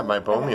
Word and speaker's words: meibomian: So this is a meibomian gland. Did I pronounce that right? Yeah, meibomian.